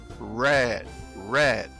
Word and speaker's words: red: O som do R em inglês, ele é mais puxado para o red, red.